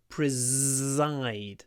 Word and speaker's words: preside: It's pronounced with a Z. Preside.